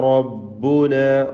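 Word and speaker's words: رَبَّنَا: റബ്ബുന യജ്മഉ ബൈനന റബ്ബുന റബ്ബുന റായിന് തഫ്ഖീം കൊടുക്കുക, പൂർണ്ണമായ നിലക്ക് തടിപ്പിച്ചുച്ചരിക്കുക.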